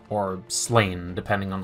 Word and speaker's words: Sláine: Today we'll be painting a skull sword from the Drune warband of the Sláine miniatures game from Warlord Games.